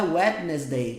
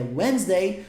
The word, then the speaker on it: Wednesday: E Wednesday, que não é Wednesday que você pronuncia, não é Wednesday, é Wednesday, significa quarta-feira.